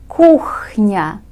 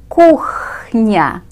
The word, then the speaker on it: кухня: Кухня. Kitchen. Кухня. This may be somewhat difficult to pronounce because we have a strong H sound in the middle of this word.